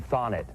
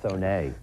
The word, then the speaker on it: Thonet: Thonet, or some people call him Thonet. A Thonet bentwood chair, if you've ever heard that. It's actually pronounced Thonet.